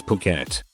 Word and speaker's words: Phuket: It wasn't until just about the end that I realized that I had been pronouncing Phuket as Fricket the entire time as I was reading my cards.